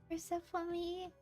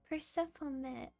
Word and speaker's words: Persephone: Persephone. Persephone or Persephone? Persephone. Persephone. Okay, I'll try.